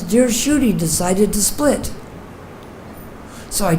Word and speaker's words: Kshudy: and he calls me cootie the Bengali pronunciation because my name in Sanskrit is pronounced Judy in English they say shootie and bengali they say cootie so he said that